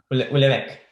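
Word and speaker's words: Houellebecq: Eén, ¿quién es el Hulbec? Hulbec o ¿cómo se dice? Hulbec. Ulebec.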